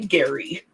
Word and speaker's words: Gerry: actually uh gerrymandering named after a person who pronounced his name Gary and and apparently looked like a salamander.